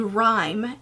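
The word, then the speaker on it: Rime: The next one is a color called Rhyme, and it's spelled R I M E.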